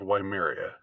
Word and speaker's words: Weimar: of Weimaria, what's called Weimaria, and the actual Weimar days, or Weimar, if you want to pronounce it in the Germanic way. I'm just gonna pronounce the W part.